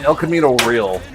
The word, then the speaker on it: El Camino Real: El Camino real.